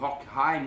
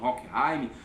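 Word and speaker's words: Horkheimer: Então nós temos grandes pensadores, nós temos o Adorno, nós temos o Horkheim, uns falam Horkheim, uns pronunciam Horkheim, são dois pensadores fortes da escola.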